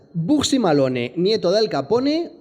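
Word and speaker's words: Bugsy Malone: Alan Parker deja el blanco España y hace maximalón Nieto de Al Capone no como que no O pronuncias buxi malone Nieto del Capone o máxima Lone Nieto del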